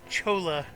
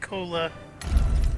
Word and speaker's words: Chola: loading the game here the game pronounces it Chola not Cola I'm sure the game